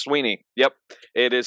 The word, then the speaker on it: Swinney: didn't know that Dabo Swinney or Sweeney is actually pronounced Sweeney yep it is spelled